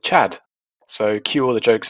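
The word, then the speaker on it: Tchad: the French involvement in, in French they call it Chad with a silent T, and we call it Chad.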